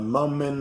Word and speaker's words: moment: ago a moment ago the t in the words moment and lieutenant is not pronounced it's very common in words that have n t in the end or even in the middle like winter or winter